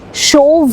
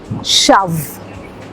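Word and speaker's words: shove: The word is एस एच ओ वी ई शो नहीं शव।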